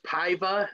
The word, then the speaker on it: Paiva: this one son i know the last name's paiva is how you say it but raulian so